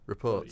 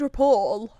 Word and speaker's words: rapport: It's got T on the end of it. It's got a T on the It's end. like of it. it's spelled like the report. Reports. You say it report.